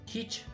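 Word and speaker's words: քիչ: Alors, kitsch, c'est, je dirais Q. Kitsch. Voilà, CH, on prononce comme en anglais, ch.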